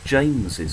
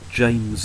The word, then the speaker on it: James's: James book we say James's book that extra s is pronounced as we say the word James is that's why we keep